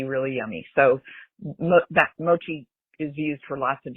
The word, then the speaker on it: mochi: First off, Doug, side note, it's pronounced mochi and it's um made from glutenous uh rice